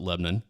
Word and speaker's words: Lebanon: Like we've got a We've got a Yes, it is spelled Lebanon. Yeah. But everyone around here calls it Lebanon. Lebanon. And that's how you can always tell who's from here and who isn't.